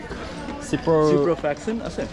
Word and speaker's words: ciprofloxacin: Ciprofloxacin? Floxacin? Did I say it right? Ciprofloxacin. Yes, okay.